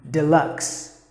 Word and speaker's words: deluxe: Deluxe, not a long sound, short sound. Deluxe.